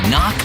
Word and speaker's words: knock: letter in kite and and a silent k is also the first letter in knock over if you don't